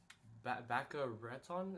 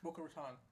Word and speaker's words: Boca Raton: Baca Raton. Is that how you say it? Boca Raton.